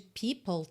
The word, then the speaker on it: people: People em are porque o e final de People não é pronunciado certo o som termina no L digamos lngua no C